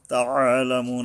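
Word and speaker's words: تعلمون: তাআলামুন, এই আইন আছে একটা, তাআলামুন, এই আইন যদি উচ্চারণটা ঠিক না হয় তাহলে কিন্তু আলিফ উচ্চারণ হয়ে যায়, হামজার রূপ ধারণ হয়, অর্থ উল্টা হয়ে যায়, পড়া হারাম হয়ে যায়, সাবধান হতে হবে।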